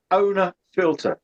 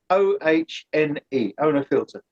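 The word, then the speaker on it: Ohne Filter: sure it's where um it is spelled a uh sorry it's spelled o h n e it's it's a German program it was done in baden-bye was the oh sorry owner filter um and uh if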